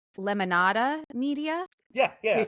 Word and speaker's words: Lemonada: Even though Spotify dropped her, I guess it's Lemonada Media Yeah. You say Lemonada. Yeah. That's the way you pronounce it.